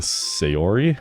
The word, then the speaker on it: Sayori: Mary is playing Sayori.